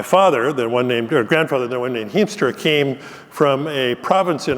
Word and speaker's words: Hiemstra: I appreciated Ty's introduction with the correct pronunciation of my last name, Hiemstra, which is the very Dutch pronunciation.